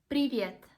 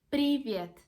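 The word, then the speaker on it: привет: one is an informal way to say hello privyet privyet brilliant we can say to our friends you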